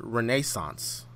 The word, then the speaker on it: Renaissance: he pronounces that word Renaissance so there's emphasis on neh so that's just a